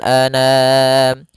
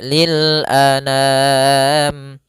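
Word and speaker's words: للأنام: Tapi karena digabungkan penulisannya seperti ini enggak langsung saja lil anam. A sempurnakan hamzah jangan ana. Jangan dibaca dengan dengung atau dibaca dengan masuk hidung. Tidak. tapi lil anam.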